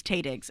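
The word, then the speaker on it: Taye Diggs: And I was like, it's Taydigs. It's Taydigs. Oh my God, it's Taydigs.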